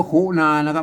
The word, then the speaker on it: ขุณณา: ก็ มา นะ อย่าง นี้ ต้อง อ่าน ว่า คุนานะ ครับ ตัว หน้า ต้อง อ่าน ว่า คุณ น้า